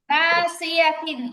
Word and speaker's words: ناصية: নাসিয়াতিন কাযিবাতিন খাতিআহ দেখেন দেখেন, নাসিয়াতিন ইয়াতে কিন্তু টান নাই, নাসিয়া বলা যাবে না।